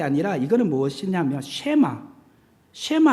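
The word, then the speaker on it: שמע: 그래서 이게 샬롬이란 게 아니라 이거는 무엇이냐면 쉐마 할 때 W처럼 생겨. 그러니까 이게 W가 시옷 발음 나요.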